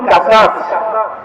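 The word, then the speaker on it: قصص: আমি আপনাদের সামনে সূরাতুল কাসাস আরবিতে শব্দটা উচ্চারণ হবে কস তে যার শাব্দিক অর্থ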